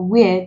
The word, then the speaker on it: where: While for where, the H is silent, the W is pronounced.